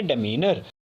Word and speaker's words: demeanour: सो DEMEANOUR pronunciation है डेमीनर। डेमीनर इज a noun, डेमीनर एक noun है, एंड it's meaning is outward behaviour और बियरिंग मैनर।